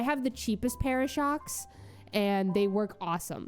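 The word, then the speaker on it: Shokz: I use Shocks. headphones. Um, I think it's spelled S H O C K Z, like with a Z at the end.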